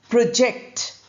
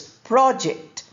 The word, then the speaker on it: project: Inject project. Now this word has two forms. The noun form is pronounced as project. stress on the first syllable project.